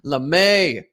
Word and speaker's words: Lame: i got here bro lemay is how you pronounce it he's got 114 million